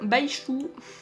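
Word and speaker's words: Baizhu: Ça s'écrit avec un Z. Hein. Pour ceux qui savent pas, je crois qu'en chinois, le Z ça se prononce ch. J'ai fait un peu de chinois il y a longtemps, mais je crois que c'est ça.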